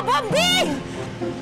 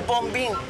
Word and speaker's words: Bombing: Oh, Bombing! Oh. Never call me Bombing. That's my real name. Just call me Bombing. Silent B to second B.